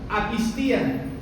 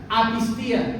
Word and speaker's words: apistía: En el Nuevo Testamento, la palabra incredulidad viene del griego apistía. Esa es la palabra incredulidad. Apistía, ¿verdad? Acento en la última I.